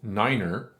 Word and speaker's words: niner: But when we pronounce them as five and niner, it's much easier to determine which one is which.